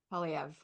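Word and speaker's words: Poilievre: And the example I have is that, you know, Canada was going to go for, I don't want to say his name wrong, Polyev. Polyev.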